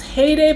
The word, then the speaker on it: Xheyday: there very lightly now their name has an X in front of it says X Heyday but I don't think you pronounced the X I think it's just hey day and I got them